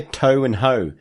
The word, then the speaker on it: Toho: Next question comes from Andy, who writes, Dear Toe and Ho, that's how you pronounce Toho.